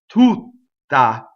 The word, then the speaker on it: tutta: you have the word tutta. So when you put e tutta, you have two double T's because the strong monosyllable doubles the T of the first and doubles the T of the second.